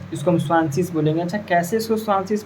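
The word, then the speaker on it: zwanzig: डब्लू ए जेड आई जी है इसको हम स्वासिस बोलेंगे अच्छा कैसे इसको स्वाशिस बोलेंगे वो भी आपको बताएंगे पहले ये समझिए कि 20 को स्वाशिस बोलते हैं।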